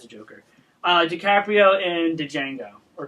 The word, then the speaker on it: Django: Joker uh DiCaprio and Django or D Jango whatever I believe the D is silent the D is silent